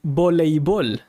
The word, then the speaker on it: voleibol: However, there are some people that pronounce the E. So they say voleibol, a jugar voleibol. But I use volleyball, and that's the one I hear more often, volleyball. Voleibol, but I would go with volleyball.